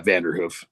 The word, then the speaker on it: Vanderhoof: First of all, what is the best way to pronounce Kurt's last name? Is it Vanderhoof? Vanderhoof? Yeah, Vanderhoof.